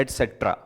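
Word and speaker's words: et cetera: लिख दिया बढूं आगे इसका उच्चारण भी ऐसे करते हैं एटसेट्रा मतलब एट पहले 80 आ गया ना फिर स्पेस आता है यहां पे फिर सेट्रा बोलते हैं एटसेट्रा सर ऐसे ही क्वेश्चन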